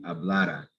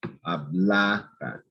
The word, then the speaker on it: hablara: Here, there is no accent mark. So it's that second to last syllable, the syllable before the R, that's going to be stressed.